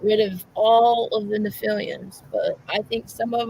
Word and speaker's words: Nephilim: Yeah, Nephilim. That's it. That's how they're pronounced, Nephilim.